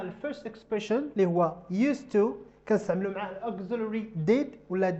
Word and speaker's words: used to: So did I used to be slim? استعملت هنا الأوكسيلري اللي هو did واستعملت used to. The pronunciation it doesn't change. واخا حيت دي ما كنطقاش الز كتنطق س used to.